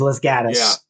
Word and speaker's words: Los Gatos: Everybody in LA doesn't understand that Los Gatos is Los Gatos.